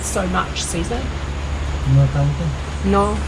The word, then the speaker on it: tanto: No tanto. No tango.